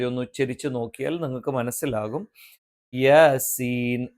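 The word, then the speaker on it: يس: വന്നാൽ അത് മദ് ലാസിമാണ് സീൻ ഇവിടെ ഉച്ചരിക്കേണ്ടത് യാസീൻ മറിച്ച് യാസീൻ എന്ന് ഉച്ചരിക്കാൻ പാടില്ല യാ എന്ന് സാധാരണ ദൈർഘ്യത്തിൽ നീട്ടിയാൽ മതി സീൻ എന്നുള്ളത് കുറച്ചധികം നീട്ടണം അവിടെ എന്താണ് മദ്ലാ നാസിമാണ് ഇത്തരത്തിൽ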